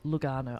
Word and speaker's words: Lugano: I'll It's Lugano. Lugano. Lugano. Yeah, perfect. With an Italian accent, that's Yeah. how you say it.